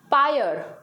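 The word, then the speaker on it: pyre: mortuary मुर्दाघर next है पायल पायल ठीक है भले यहां पे आर आई है बट हमारा वर्ड होगा साइलेंट होगा आर हमारा साइलेंट होगा पायल मतलब होता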